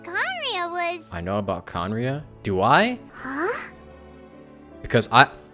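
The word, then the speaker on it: Khaenri'ah: ancient nation that was destroyed 500 years ago conria so that's how you pronounce it conriya i've been wondering how to pronounce it for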